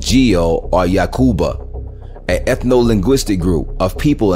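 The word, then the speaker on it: יעקב: birth name was Jacob which in ancient Hebrew is pronounced yakub or yakub the yakuba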